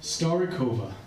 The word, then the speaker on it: Starikovia: So, how do you pronounce the name of the band again? Starikovia.